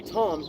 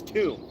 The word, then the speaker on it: tomb: b o m b you would think that t mbb would be Tom nope that's tomb and then you get